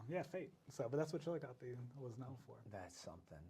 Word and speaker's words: Chillicothe: It's not Chillicothe. It's right. Chillicothe.